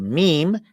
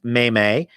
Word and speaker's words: meme: This word meme, and it's sometimes pronounced meme, but that's kind of pronounced that way as a joke. The person who created the word pronounces it meme, and so I think I'm just going to go with that. It was Richard Dawkins who invented meme, so I'll go with his pronunciation.